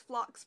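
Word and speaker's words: phlox: can tell so it's based on a flower called blocks and it's spelled ph ello I also love flocks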